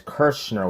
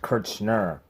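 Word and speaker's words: Kirchner: Here's the funny thing about his name is it's pronounced verbally on camera as Kurtzman with an S, but it's actually spelled with a C-H, Kurtzman.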